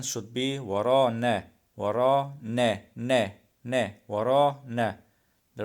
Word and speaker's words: ورانا: He pronounced the word wrong. He say وراني. It means behind us, but he pronounced it wrong. It should be ورانا. Behind us means ورانا na. At the end of the word, it's na na. The real pronunciation end of the word is na.